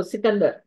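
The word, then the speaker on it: Iskander: over the word because it's spelled with Iskandar. It's not just Sikandar. Okay. There's an I there. And so, should I pronounce the I or not is what I was struggling with. Okay, so Sikandar is the best way.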